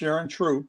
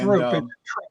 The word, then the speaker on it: Throop: You don't pronounce it Throop. Yeah. Which is exactly what I said when I met her. Is she German? It was her husband, which was Wendy's stepdad, Bill, and I'm not sure. I'm not sure. I just know the H is silent. It's pronounced just like Troop.